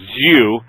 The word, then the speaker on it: Xu: to my knowledge is XU pronounced zuu Jean ping uh Zu n p i n g kind of like jumping only Jan ping with a an N instead of an M he was ah head